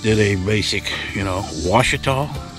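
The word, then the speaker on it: Ouachita: So we just did a basic, you know, Washita. That's pronounced, it's spelled with a Q. Q-U-A-C-H-I-T-A. That are these, that's these mountains around here.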